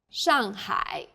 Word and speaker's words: Shanghai: a word in pinyon the pronunciation for the famous city shanghai is shanghai the first syllable here is made of an initial and a final and a fourth falling tone the second syllable is made of an initial and a final i and a third falling then rising tone hi shanghai well done let's wrap